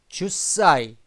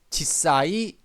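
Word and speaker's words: 十歳: 씁니다 사이 몇 세 열살은 주사이 주사이라고 합니다. 혹은요 U 발음하기 힘드니까 유를 빼서 지사이 지사이라고 합니다. 20살은 니주사이 니짓사이 30살은 산주사이 산지사이 40살은 연주사이 연지사이 50살은 고주사이 고지사이 이러면 되는 거죠.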